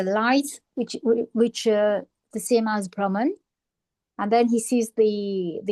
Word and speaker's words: Brahman: So Brahman, it's pronounced Brahman.